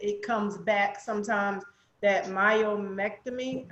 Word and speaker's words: myomectomy: And then I've heard that it comes back sometimes, that myomectomy. Am I pronouncing it right? Yes, Yeah. myomectomy. Yep.